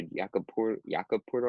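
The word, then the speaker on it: Jakob Pöltl: Same thing happened again last night with Jakob Porter, I think is how you pronounce it.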